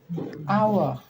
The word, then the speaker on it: hour: Contoh selanjutnya, hour. Hour ini adalah kata benda yang diawali dengan huruf konsonan, tetapi cara membacanya dibaca vokal, sehingga menggunakan kata sandang an hour.